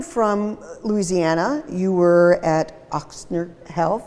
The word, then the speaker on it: Ochsner: Coming from Louisiana, you were at Ochsner Health. Ochsner, yep. Thank you for helping me pronounce that.